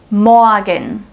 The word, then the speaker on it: morgen: Morgen, morgen. So I don't say morgen, but morgen.